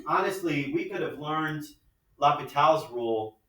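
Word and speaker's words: L'Hôpital: Indeterminate forms and this thing called Lhopitals Rule. Now, What is first? it's this guy. His name is Lhopital. Yeah. Lhopital. That's how you pronounce his name.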